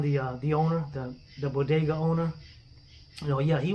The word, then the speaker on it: bodega: how did you how did you buy i pronounced it a uh bogada yeah people watching what the hell is a bogut at all she means a bodega and he had a knife he stabbed me